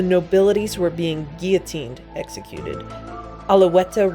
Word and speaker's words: Alouette: were being guillotined executed alaweta rhymes with mary antoinette this song could easily